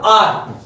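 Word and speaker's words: hour: करेंगे, इसका जो है प्रोनाउंसिएशन क्या होगा, आर, आवर हावर नहीं बोलते, आर, आर, आर, यहां से देखो निकल रहा आर।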